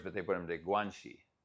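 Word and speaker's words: 关系: It's two words, but they put them to guanxi. So Xi is pronounced the same as Xi Jinping's last name, guanxi.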